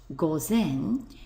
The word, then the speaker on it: 午前: Ki which means before we get midday before pronounced Goen which means of course A M before midday